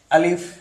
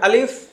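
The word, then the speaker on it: ألف: আমরা অনেক সময় বলি যে আলিফ এভাবে বলি, কিন্তু আলিফ উচ্চারণটা খুব দ্রুত হবে, আলিফ।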